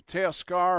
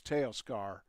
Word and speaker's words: Teoscar: I heard several different pronunciations for him, but I think it's Teoscar.